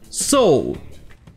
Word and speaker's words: Seoul: D'ailleurs, c'est aussi la prononciation en anglais de la ville Séoul, la capitale de la Corée du Sud. Seoul.